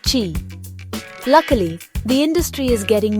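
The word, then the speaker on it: Qi: For a while, you had to make sure your phone and your charger used the same standard like chi, pronounced chi.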